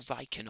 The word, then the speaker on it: Rieekan: General Rieekan. Hey? General Rieekan or Rieekan, however you want to pronounce it.